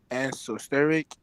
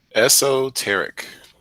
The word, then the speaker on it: esoteric: Word of the day: exosteric. I think I pronounced that word though wrong. Esoteric. Exosteric. Teric, sir, Teric. It's okay. Eric. Steric. Eric. Okay, you want to put an S in there. So esoteric.